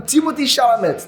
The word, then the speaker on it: Timothée Chalamet: Eu vi que, como é francês, é Timothée Chalamet, mas eu vou falar Timothée Chalamet porque, enfim, vocês vão entender, enfim, tanto faz.